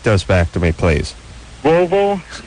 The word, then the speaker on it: Volvo: back to me please Volvo Sab okay work close enough got it yeah unlike my barber who says uh Bobo and Sab sa yeah Bobo and Sav those are the way he pronounces it like listen you jackass